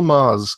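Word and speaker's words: Magrs: called grandma genielle Paul Mars confusingly is spelt ma g r s it's Irish yeah I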